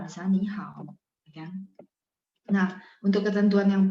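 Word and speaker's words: 你好: Jadi kalau misalnya ketemu tiga, maka depannya berubah bacanya jadi nada 2. Ni hao gitu ya, san.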